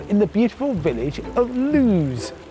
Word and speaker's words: Loose: the beautiful village of lose spelt loose but pronounced to rhyme with news the landlord Shaw gets